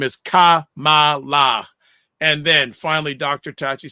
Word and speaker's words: Kamala: The way to pronounce her name is Kamala.